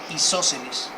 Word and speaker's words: isósceles: Isósceles. Lo voy a escribir para isos. No, sí. Ah, sí, ok, perdón. Isósceles, con acento en la O, ¿okay? Porque es esdrújula.